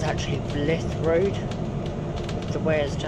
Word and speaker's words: Blythe: I think it's actually Blythe Road, the way as to how it's spelled. Because it has got an E at the end, so I think it's Blythe.